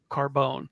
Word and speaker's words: Carbon: Philipe bourier de Carbone his last name is spelled c a r b o n but pronounced Carbone that's kind kind of